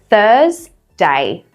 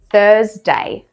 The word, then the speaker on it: Thursday: We're cutting the R off here. So we want to say thur, thur, not thur. Stop it. Thursday, Thursday.